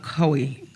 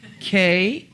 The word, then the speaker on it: Kauai: When I lived on the island of Kauai, okay, make me pronounce that, Kauai, help me family.